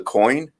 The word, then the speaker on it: COIN: department it's called the COIN. It's Coin. just Yeah. yeah, just as you spell it, like as it sounds.